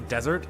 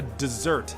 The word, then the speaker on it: dessert: A desert? A dessert, you idiot, to learn how to pronounce things.